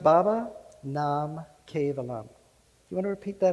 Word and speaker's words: Baba Nam Kevalam: in Sanskrit that can open your heart it's pronounced baba nam kevalam you want to repeat that after me baba